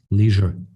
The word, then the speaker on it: leisure: were indeed correct and leisure is the uk pronunciation leisure is the american way i would like to